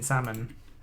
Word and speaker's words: salmon: bucket on me bracelet don't pronounce the L in salmon special saying salmon as